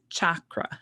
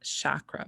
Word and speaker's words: chakra: The word chakra means wheel. And in case you wondered, I looked it up before I started, and it is pronounced chakra, not chakra, but chakra.